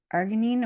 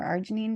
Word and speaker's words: Arginine: the body converts um to Arginine or Arginine depending on how you like to pronounce it and that supports